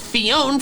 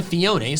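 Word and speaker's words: Phione: what Cleone were, so I've called it Fiona for years because its name looks like phone with an extra letter. Part of me thinks I should work on correcting my pronunciation and changing it to Fiona since that clearly makes more sense.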